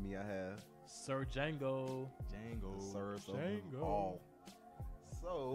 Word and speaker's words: Django: Django. Sir Django. All. So, The D is silent.